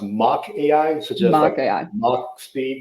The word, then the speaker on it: Mach AI: your for reference uh the companies pronounced mock AI suest Mo AI mock